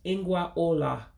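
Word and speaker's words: ngwa ụlọ: furniture within the house so furniture will be pronounced as in Gua Ola furniture in Gua Ola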